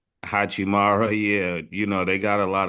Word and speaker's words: Hachimura: Hachimura. Hachimara, yeah, they got a lot of good pieces that you could play pause around them too.